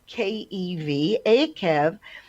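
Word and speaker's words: Eikev: this parsha is called a kev in english it's spelled e-i-k-e-v a kev and actually acov i had always um you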